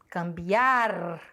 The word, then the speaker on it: cambiar: hora da Separação ciar cambiar a sílaba tônica é o Biar porém ela não vai ser acentuada porque ela termina em r e a regra diz que se terminar em R não é acentuada agudas terminadas e que